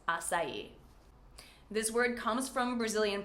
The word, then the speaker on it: açaí: saying this word, and they would say things like, yes, I would like to order an Acai smoothie. And, well, we know now that it's açaí.